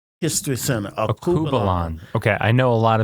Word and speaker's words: Alkebulan: And the name is it pronounced? Akubalan History Center. Akubalan.